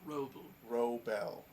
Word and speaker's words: Robel: picture it with r-o-w Robel Robel you're correct it is spelled b-e-l at the end but it is pronounced ble okay if you want